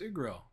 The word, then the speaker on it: Igril: My name is Igril. The G is silent.